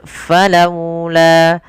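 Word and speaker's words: فلولا: Kemudian laula, ada waw yang dia sukun yang didahului dengan huruf fathah, maka dia kita namakan dengan bacaan lin. Cara membacanya pun dengan lembut. Falaula, falaula.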